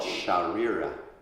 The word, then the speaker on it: Śarīra: So the body is called Śarīra.